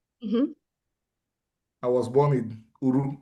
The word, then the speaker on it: Uru: Where you born? U-R-U. U-R-U. Are you? And the full name of the U-R-U.